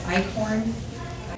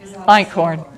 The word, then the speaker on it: Einkorn: And I don't know how you say it, is Eichhorn? Einkorn, yes, it is.